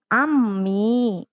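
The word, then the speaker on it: عمي: Paman ini ammi. Menggunakan ain ya.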